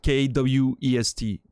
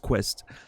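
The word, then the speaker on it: Kwest: K-W-E-S-T. Meant to be pronounced Quest. But like the first time he came in, Naz called him K-West.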